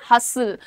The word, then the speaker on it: hustle: अब प्रोनाउंसिएशन क्या है? हस्टल लिखा है, पर हम बोल कैसे रहे हैं? हसल। हसल यहाँ पे टी साइलेंट है और बसल में तुम्हारा